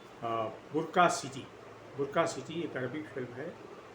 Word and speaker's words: Bracq: विवाद ये है कि एक अरबिक फिल्म है जिसका नाम है बुर्का सिटी।